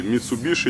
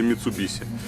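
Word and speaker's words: 三菱: Так, только что у владельца леопардового бара мы выясняли, как правильно произносить. Сибуя или Шибуя, Суши или Суси, Митсубиши или Митсубиси.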